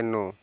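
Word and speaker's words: know: पर देखिए लिखा है के एन ओ डब्लू तो यहां पर इसको आप पढ़ेंगे देखिए के साइलेंट हो गया तो पढ़ेंगे नो नो मींस होता है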